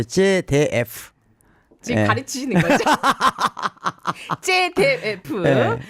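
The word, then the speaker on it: ZDF: 독일의 제다프 공영방송이 있어요. 거기서 10년째. 발음을 정확히 해야 되는데 제데프.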